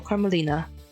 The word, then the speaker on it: Carmelina: archetype Carmella Carmen carmelina carmelina like an extra syllable carmelina carmelina silence architect of